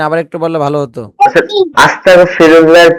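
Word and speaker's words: أستغفر الله: Hamza scene যাব আস্তাগ, ইন যাব তাগ, আস্তাগ, ফাজের ফি, আস্তাগ ফি, র লাম পেশরুল, আস্তাগ ফিরুল, লাম খারা যাবর ল, আস্তাগ ফিরুল্লাহ, হা জবর হা, আস্তাগফিরুল্লাহ।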